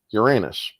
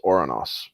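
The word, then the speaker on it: Ouranos: Gia and oros or or as many people love to call him Uranus laugh it up folks but his original or his original pronunciation was oranos yeah he was the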